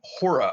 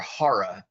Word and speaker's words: HORA: the one who chose the acronym hora or hara as you may want to pronounce it uh other derivatives were